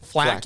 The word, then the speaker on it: flak: how to pronounce it so flak means like taking fire percussive fire yeah f-l-a-k or or vocal percussive shrapnel yep yep yep being thrown at you yep i gotcha word shrapnel word shrapnel that makes a lot more sense than flat jacket flat jacket doesn't make a whole lot of sense it's just flat isn't